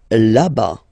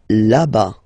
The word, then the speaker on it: là-bas: Là-bas. Là-bas. Remember, final S, not pronounced.